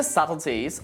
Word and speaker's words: subtleties: him for his help now if you know that the B is silent in subtle how do you say this word in this sentence you got it some of the subtleties of the language are Lost in Translation now if you want